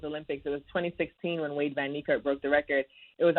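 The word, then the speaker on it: Wayde van Niekerk: Wade Van Niekerk.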